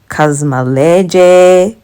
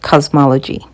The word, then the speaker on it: Kazmaleje: they actually say like they tell you how to pronounce and it's actually pronounced cosmology the first tool that